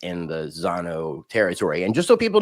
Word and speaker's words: Zano: they pronounce it and they they told me it's Zano it's Zano so here we are